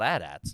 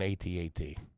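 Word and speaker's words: AT-AT: called adats or something I think they're called adats no that's the big that's the big Walker guys yes yeah called an atat okay can we get the actual definition the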